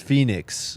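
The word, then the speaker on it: Phenix: lot of these guys people are saying it's pronounced Phoenix all right sorry it's spelled Fenix though it's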